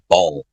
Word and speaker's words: Baal: It's I know. pronounced ball. Baller.